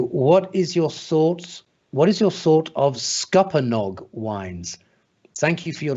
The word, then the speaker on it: Scuppernong: Scupper, as in Scupper. As in Scupper, with Nong on the end. Scuppernong.